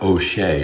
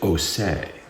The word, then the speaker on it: O'Shea: It's not O'Shea, it's O'Say.